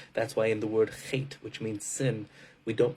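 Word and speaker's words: חטא: That's why in the word chet, which means sin, we don't pronounce, it's spelled chet, tes, aleph. We only pronounce the first two letters.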